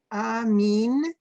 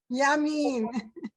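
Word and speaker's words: ימין: Amin, Amich. No, Almost. Ami. Wait. There's a little yud. You Oh, gotta pronounce Yud. it. Sorry, Yud. Okay. Sorry, Yud. Yamin.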